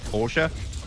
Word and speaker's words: Porsche: Or if you want to be a fancy kid, Porsche or I suppose a German that pronounces the name correctly. Porsche.